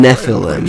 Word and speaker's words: Nephilim: Nephilim. Nephilim. There's another syllable in there. Hey, just said it real fast. Like a garage.